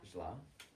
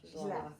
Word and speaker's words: źle: In Polish language, make sure you pronounce every single letter. So there are 3 letters in the word źle, and the last one is e, źle. Make sure you pronounce Źle. it e, źle.